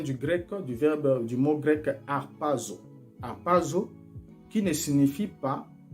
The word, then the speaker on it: harpazo: Ce mot-là vient du grec, du mot grec harpazo.